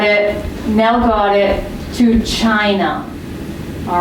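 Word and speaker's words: Qin: How would you pronounce this in English? Zing. Then, Chin.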